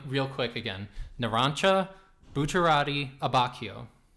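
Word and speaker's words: Abbacchio: quick again nancha buera abbachio CH is a hard C uhhuh two C's is a CH yeah very confusing as a Spanish speaker but here we go yeah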